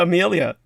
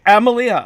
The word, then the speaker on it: Emilia: or is that a amelia this is amelia oh emilia okay so sorry i mispronounced your name it's okay douglas it's